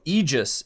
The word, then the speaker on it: Aegis: And Christian Mollik says, um, Oh, Eegis. It means shield. So, there you go. I guess that's how you pronounce that.